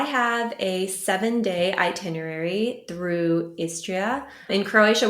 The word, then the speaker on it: Istria: a 7-Day itinerary through istria in Croatia we pronounce it estra so you drop the second I but the istrian peninsula